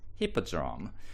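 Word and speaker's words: Hippodrome: and it seems that the letter H is not pronounced in French. So he tended to say appi eldrome.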